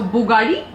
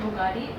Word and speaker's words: bugadi: A bugadi. Not Bugatti. Bugadi. Fugadi. Bugadi. Bugadi.